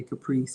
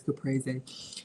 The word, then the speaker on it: caprese: Or y'all know we say caprese, but it's caprese.